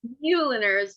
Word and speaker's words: Meuleners: I hope I pronounced your name correctly. Meuleners, but very close.